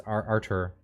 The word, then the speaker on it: Artur: for pastor pastor artur i i never pronounced that right i always think it's arthur but it's artur pavlovsky uh and his